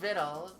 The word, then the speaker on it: victual: Doesn't look like it, but it rhymes with little. Oh, viddle.